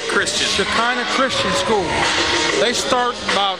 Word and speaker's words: Shekinah: bring you the volleyball game how do you pronounce that school now Shekinah Christian Shekinah Christian School they start about fifth sixth grade